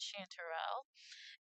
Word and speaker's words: chanterelle: That is how you pronounce that, chanterelle.